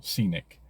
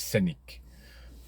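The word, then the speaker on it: Scénic: Renault, yes, Megane, E-Tense, and of course the new Scenic, or Scenic. In French it's Scenic. But yeah, we're not in France, are we?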